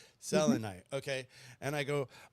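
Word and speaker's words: selenite: Selonite. Selonite. Selonite. That's right. Selonite.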